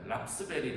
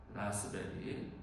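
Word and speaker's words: raspberry: 모세가 하나님을 만날 때 불꽃이 일어났던 그 떨기 나무를 라스베리 여기서 피는 묵음이라는 건 아셔야 돼요. 랍스베리. 랍스베리 하는데 아니에요. 라스베리 또는 블랙베리의 히브리어 페텔.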